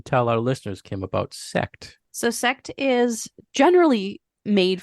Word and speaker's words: Sekt: Sekt.